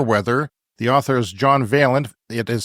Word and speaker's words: Vaillant: is called fire weather the author is John veent it is spelled v a i l l a n